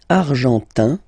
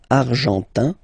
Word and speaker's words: argentin: Argentin, in, gives you this un sound. Argentin, okay?